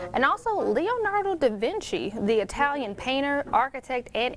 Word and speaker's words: Leonardo da Vinci: year so if you didn't know it is pronounced leonardo da vinci and lastly the famous national park in california